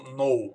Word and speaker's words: know: Então, knife. Tudo isso que começam com K, mas não fala o K. Você não diz knife, você não diz know. Você só fala knife ou know. Aí você ignora na pronúncia o K.